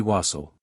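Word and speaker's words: wassail: be or become and wax heal by Corruption of pronunciation afterwards became to be wasle the king not understanding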